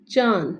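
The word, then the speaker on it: چاند: चा अचा द चांद, नून के ऊपर गुन्ना है इसलिए नून जो है वो साइलेंट होगा, नून को नहीं पढ़ा जाएगा। न चा न द नहीं पढ़ा जाएगा, उसको हम गुन्ना करेंगे तो चा अचा द चांद, चांद।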